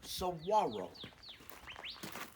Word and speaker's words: saguaro: oh by the way saguaro is spelled with a g s a g g-u-a-r-o the g is pronounced like a w saguaro okay let's go in